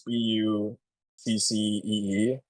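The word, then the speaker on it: Buc-ee: It's spelled like Bussy though. It's Buccee.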